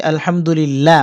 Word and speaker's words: আলহামদুলিল্লাহ: আসবে এখানে লিল্লাহ পড়েছি আলহামদুলিল্লাহ অর্থাৎ আল্লাহ শব্দ বারিক হয়েছে অর্থাৎ পাতলা করে উচ্চারণ করতে হয়েছে এখানে না বলতে হবে